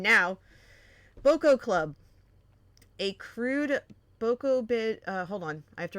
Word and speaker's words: Bokoblin: Oh, okay, so long O. Bokoblin. Bokoblin.